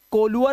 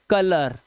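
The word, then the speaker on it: colour: जैसे ओ यू के बाद आर तो इसे कोलुअर ओलअर पर नहीं पढ़ना है। कलर आ की आवाज।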